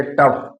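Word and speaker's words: tough: तीसरा नियम, जब जी एच किसी शब्द के अंत में आता है, तो उसका उच्चारण फ होता है। जैसे टफ, टी ओ यू जी एच, टफ means कठिन।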